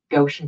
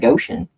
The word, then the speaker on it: Goshen: Yeah, Goshen Paranormal, I probably said their name wrong, and they got mad at me, but I know it's looks like Goshen.